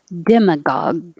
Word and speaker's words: demagogue: but with voicing right demagogue hold that last g you don't have to say gag demagogue probably or probably